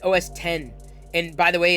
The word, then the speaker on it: OS X: current poll is wrong it's you you pronounce it os 10 and by the way